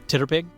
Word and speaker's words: TTRPG: Titterpig, because if you take TTRPG and you phonetically sound it out, it's Titterpig.